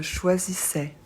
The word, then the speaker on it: choisissais: a i s attention a I on prononce e et on ne prononce pas le S je choisissais tu choisissais